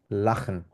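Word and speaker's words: lachen: কেউ বলতে পারবেন বিডেট লাখন লাখেন মানে হচ্ছে হাসা স্মাইল ঠিক আছে লাখেন মানে হচ্ছে হাসা যেমন ইস লাক আমি হেসেছিলাম দু লাখ টেস্ট এটা খ এর মত উচ্চারণ হবে ঠিক আছে দু লাখ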